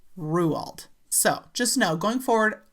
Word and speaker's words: Roald: Now, I'm kind of conflicted when it comes to the pronunciation of Ruald because in my video of Roald Doll, I pronounced it Rowald and I looked it up before I did that video.